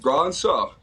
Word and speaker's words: Brosseau: It's 2 syllables, just Brosseau. So it's nice and easy.